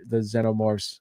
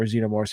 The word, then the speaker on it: xenomorph: what the aliens are, the xenomorphs, or xenomorphs, however you want to pronounce it. I've heard it both ways.